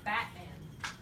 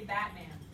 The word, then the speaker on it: Batman: batman this says batman now think about how you say batman you're like but it has a t in it say it batman you don't say batman you say batman batman you never make the sound ever batman your tongue never